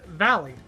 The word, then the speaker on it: valle: Mosey, not just if the word has two L's in it, they're pronounced as Y's. So like the let's say this word is valley.